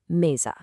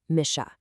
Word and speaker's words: mesa: If an S is sandwiched right between two vowels, it actually turns into a buzzy Z sound. Take the word for table, "mesa." It's pronounced "meza."